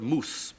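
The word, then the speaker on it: mūs: we do know that the Anglo-Saxons pronounced that word moose because of the way they spelled it m-u-s and instructors and so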